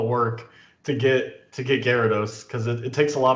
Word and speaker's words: Gyarados: of all time is gyrados or jirados i know how to pronounce it yes gyarados gyarados and this is for two